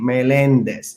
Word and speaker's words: Meléndez: And you have to put a little accent on the second E of my last name, Meléndez, okay?